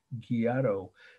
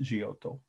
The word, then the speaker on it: Giotto: indiana we could say giado g-i-o-t-t-o is pronounced jiyoto in italy uh and the date is 1306.